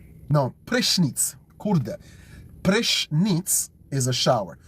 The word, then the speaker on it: prysznic: And then prysznic. No, prysznic.